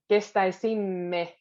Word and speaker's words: kestäisimme: It's just the kestäisimme. Remember to put really those two M's. Kestäisimme toisiltamme. Because if you only do one, it sounds, it's not as clear.